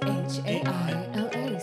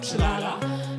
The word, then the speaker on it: Chaila: My name's not that hard to pronounce. Pre-K is not profound. Chaila. Sound the words out. Because it's not Chile. It's not Chilala.